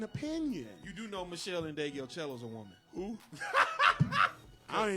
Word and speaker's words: Ndegeocello: You've never heard of Michelle Ndegeocello? Say that last name again. Michelle Ndegeocello. Are you sure you're pronouncing it correct? I'm 100% positive. Never heard of. I thought it was Indio Cello or some shit.